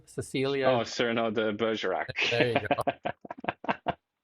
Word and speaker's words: Cyrano: With a little longer nose, isn't that Cecile de Bergerac, or how do you pronounce that name? Cecilia. Oh, Cyrano de Bergerac.